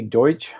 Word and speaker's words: Deutsch: Los Alamitos junior Riley Deutsch I believe is how you would pronounce that de UT SCH scored four goals in the